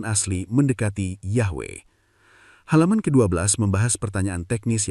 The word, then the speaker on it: Yahweh: of Hebrew Bible bahwa pelafalan asli huruf Wau adalah bunyi bilabi W bukan labiodental V. Jadi transliterasi yang tepat secara historis adalah YHWH bukan YH dan pelafalannya adalah Yahwe bukan Yahve.